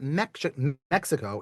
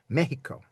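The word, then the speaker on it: México: Mexico, M-E-X, the letter X in Spanish generally, some drift on this, generally gets the shh sound. So it's not Mexico, it's Mexico.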